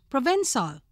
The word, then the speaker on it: Provençal: Provençal, pronounced Provençal, of the district of Provence in France, known for its bards and its grapevines.